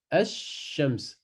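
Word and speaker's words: الشمس: Donc, ça donne Ash-Shams. Et on rajoute une shedda sur le shin. Ash-Shams. Mais le lam, il ne se prononce pas. Donc là, dans le mot Al-Qamar, le lam se prononce. Et dans Ash-Shams, on passe directement dans la lettre après qui prend une shedda.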